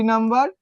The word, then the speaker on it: নম্বর: আচ্ছা দেখো তো নম্বরের উচ্চারণটা কেমন? নম বর, তাই তো নাকি? তার মানে এখানে কি হইলো? বটা কেমন হয়েছে? ব উচ্চারিত হয়েছে।